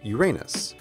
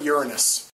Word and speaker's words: Uranus: name of the seventh planet is pronounced Uranus but in the effort of staying semi-professional of this we're going to go with Uranus Uranus would be located